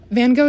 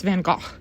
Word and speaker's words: van Gogh: about van gogh also van gogh is not how you're supposed to pronounce it it's van gaal but um no one actually says that or at least in america no one says that so if you say